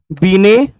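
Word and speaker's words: Binet: ठीक है, उसके बाद यह दुनिया का, इसीलिए बीने, बीने टना लिखना है हिंदी में, हिंदी में बीने ही लिखा रहेगा, टी साइलेंट रहता है।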